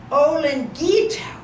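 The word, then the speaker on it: olinguito: So the word is spelled O-L-I-N-G-U-I-T-O. How would I say that? Olingito.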